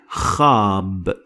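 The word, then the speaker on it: خاب: Next is khab. Khab. Khab, remember the CH of the Scottish language, and khab means failed.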